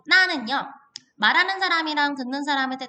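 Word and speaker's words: 哪: 발음을 할 때 나, 라고 삼성어로 발음을 하고요.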